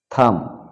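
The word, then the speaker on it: thumb: কোন কোন শব্দে বি লেটারটা উচ্চারিত হবে না সাইলেন্ট থেকে যাবে কম মানে চিরনি ল্যাম্প মানে ভেড়া টম মানে সমাধি থাম মানে বৃদ্ধাঙ্গুল বোম মানে বোমা লিম মানে অঙ্গ-প্রত্যঙ্গ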